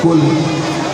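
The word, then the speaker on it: قُل: قلب مانے کتا, حالانکہ اتنا ہی فرق ہے چھوٹے اور بڑے کاف. کل اور کل, چھوٹے کاف سے کل کا مطلب ہے کھاؤ, اور بڑے کاف سے کل کا مطلب ہے بولو. دیکھا معمولی تلفظ سے معنی میں بڑا فرق پڑ جاتا ہے.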